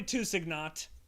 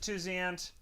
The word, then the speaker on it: Tusignot: Schmidt, Joe Kilpatrick, Cody Tusignot. Some people pronounce it Tusiant. That's incorrect. I've heard it both ways.